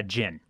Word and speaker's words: djinn: Yeah, djinn. It's spelled D-J-I-N-N.